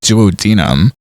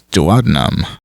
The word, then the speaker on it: duodenum: Ken pronounces it duodenum. I thought it was duodenum.